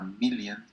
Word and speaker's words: million: Muchas veces la O en inglés no es O sino E. Million. Second, Second. million, no second, ni million, second, million. Entonces cuando vean esta combinación, una O con una N, digan, esta no es como una O en español, esto es casi como una E.